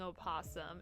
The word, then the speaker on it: opossum: And I will be saying opossum. It's spelled like that.